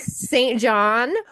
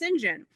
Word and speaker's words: St. John: It is an English name, and the English name is pronounced Sinjin.